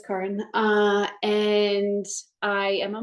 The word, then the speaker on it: Caron: I am Karen um I know it looks like Karen but it's Karen uh and I am a mom of three uh 42 fastly approaching 43.